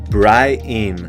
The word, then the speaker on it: Brienne: He says it like it rhymes with dry spleen. Bry-in. That's a pretty crazy way to pronounce it. Brienne should marry Jaime, have children, and live happily.